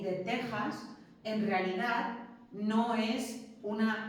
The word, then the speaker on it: Texas: Ya os he dicho también que la X de México y de Texas en realidad no es una X, sino que